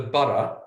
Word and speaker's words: burgh: We like to call it the borough, which for us is spelled Burgh.